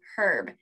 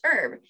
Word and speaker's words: herb: with the h so herb but in the united states we often pronounce it just herb so either way is